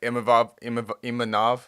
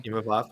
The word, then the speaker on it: Imavov: that Imanov won't fight him. Imavov. Yep. Imavov, sorry, won't fight him. And Okay. there you go. So actually, either Imavov or Damn.